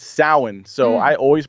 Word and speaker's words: Samhain: Salan Salin it's spelled it looks like Sam Hayne but it's sowin so I always pronounce